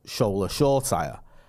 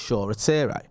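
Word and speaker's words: Shoretire: used to talk about Shoulder Shaw Tyre, and everyone used to be in the comments telling us, "You're pronouncing it wrong. It's Shaw Tyre."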